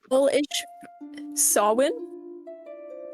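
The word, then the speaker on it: Samhain: like fallish sawin okay it is not spelled how you think it's spelled so w y n no it's we're going back to the goic gay like kind of up spellings so it's s a m h a i n s a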